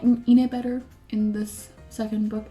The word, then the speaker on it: Inej: this second book, and I was informed that like her name is Inej, so, but I'm gonna keep pronouncing Ine because I'm just used to pronouncing it by now. I'm so sorry if people are like, oh, it's pronounced Inej, no, fuck off. I'm pronouncing it Ine because I don't believe they should pronounce the J.